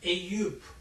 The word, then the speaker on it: Eyüp: Eyüp.